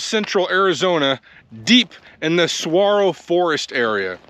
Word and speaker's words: saguaro: And it's spelled Saguaro, but I think it's a Spanish word, so saguaro. I hope I'm saying that right.